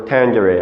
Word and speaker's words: tangere: No longer sine, cosine, or tangent. It's sinus, cosinus, or tangere. Okay, so thanks for watching, and I'll see you next time.